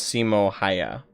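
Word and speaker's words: Simo Häyhä: no i think that's the correct pronunciation is simo haya and uh and two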